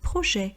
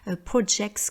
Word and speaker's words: projet: Vous remarquerez donc qu'on ne dit pas projette, mais projet, car on ne prononce pas la dernière consonne et on ne prononce pas non plus la marque du S.